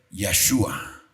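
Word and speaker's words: ישועה: Lo interesante es que la palabra salvación, cuando dice, "Van a ver la salvación, la palabra salvación en hebreo se pronuncia Yahhua."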